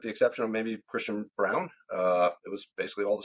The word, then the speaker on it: Braun: Yeah, Christian Brown, who I want to call Braun, and so do all the announcers. They can't get over the fact that it's pronounced Braun or yeah, Brown, but he had a